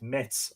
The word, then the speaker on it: Metz: of Saint Arnould at Metz under Bishop Chrodegang. Metz, where is that? I'm pronouncing that as if it's French.